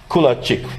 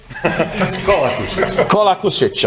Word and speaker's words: Kolakušić: And another colleague from Croatia, Kulačić, right? Do I pronounce it correct? Right now, not. Kolakušić.